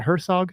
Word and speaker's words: Herzog: Am I pronouncing that right? Is it Herzog Yes, Foundation?